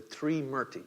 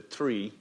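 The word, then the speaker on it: Trimurti: The Smṛti, T-R-I-M-U-R-T-I, right? And that first syllable gives you a clue, the Smṛti, right? We have a few words in English that start with T-R-I.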